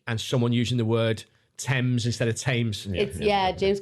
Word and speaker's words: Thames: can't use the word you can't use the word tames to make a rhyme it's pronounced Thames it's in there and